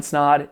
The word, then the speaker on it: Snod: My name is Ryan Snod. It rhymes with odd, and we'll see you in next week's video.